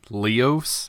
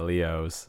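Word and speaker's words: Leoz: dudes like I'm done Leo's is his name like plural really oh yeah yeah Leo's yeah so that's how they were pronouncing it anyways but it's le o Z and yeah but again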